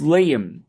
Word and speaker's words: Liam: Well, my younger brother's name is Liam, Liam, and Eloquence does not pronounce that correctly.